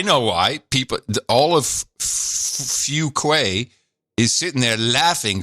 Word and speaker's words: Fuquay: hometown and the pronunciation keeps getting mangled it's pronounced Fuquay Fuquay got it Fuquay I know it is a